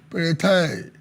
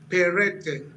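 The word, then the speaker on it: Peretei: Joining us live is Peretai, PDP Publicity Secretary, Ondo State. Honorable Peretai, good to have you guesting on Plus Politics. Thank you so much. Good evening. But the name is pronounced Perete.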